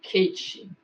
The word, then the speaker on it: Caté: Ela é parecida com a que me foi passada por minha tia Caté. Pronuncia-se Kate, que vivia em Xicrá, perto de Dombovar, na Hungria.